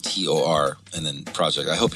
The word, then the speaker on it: Tor: Not Thor Project. Yeah, not Thor. Tor. Not like the Avengers. Yeah, Tor.